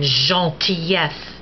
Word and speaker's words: gentillesse: G as in gentillesse, kindness, or gicler, to spurt. And the G, like the C, is soft before E and I.